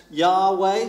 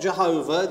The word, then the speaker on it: Yahweh: i will be now we're fairly sure that that's kind of pronounced yahweh something like that not jehovah there's no j sound in the hebrew language and it means along